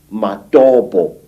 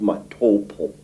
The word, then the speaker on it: Matobo: And one of these parts of Africa, say, is a remarkable place called the Mountains of the Round Rocks, Matobo, wrongly pronounced Matopo, in Zimbabwe.